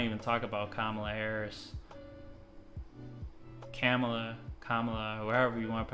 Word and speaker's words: Kamala: all of a sudden no my name is kamela so but she still hasn't answered tulsi's question